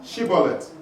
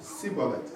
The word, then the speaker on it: Shibboleth: They said to him, say now, Shibboleth. Il dit, bon, dis Shibboleth. And he said, Sibolet.